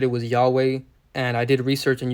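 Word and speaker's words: YHWH: You know, in the video I said it was Yahweh. And I did research and you guys are actually right. You know, the correct pronunciation of God's name which is spelled Y HWH is actually pronounced Yahwa.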